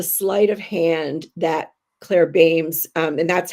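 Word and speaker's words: Beams: Meanwhile, And this is the sleight of hand that Claire Bames, and that's how you pronounce her name, by the way, actually plays on the reader, but in a very beautiful way.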